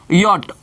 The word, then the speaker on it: yacht: हम लोग, लिखते हैं यॉट, YACHT। और ये हमने लिखा, इसको हिंदी में क्या कहते हैं, यॉट मतलब होता है नौका। और इसका जो उच्चारण हम लोग लिखते हैं वो कुछ ऐसे लिखाएगा, यॉट।